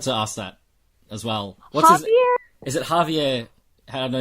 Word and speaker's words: Javier: No, it's J. But they pronounce it Javier. It's Javier or Spanish.